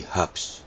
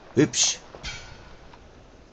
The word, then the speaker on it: hübsch: We hubs, no, not hubs, hübsch. Pronounce it in German, not in English with